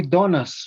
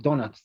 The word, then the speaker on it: donuts: them usually we say donuts right we do not we usually we don't pronounce the letter t yes t it's like donuts donuts donuts yes yes okay